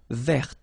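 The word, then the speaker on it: vert: remember rou there so masculine form you don't pronounce the final T there feminine form ver so listen carefully I don't say but it's ver ver okay so as usual this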